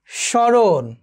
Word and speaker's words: স্মরণ: যেমন একটু ধরো শ্মশান, এখানে যে মফলা রয়েছে এই মফলার উচ্চারণটি এখানে হয়নি, বাট একটু নাসিক্য রয়েছে। স্মৃতি, খেয়াল করে দেখো। স্মরণ, একটু খেয়াল করে দেখো।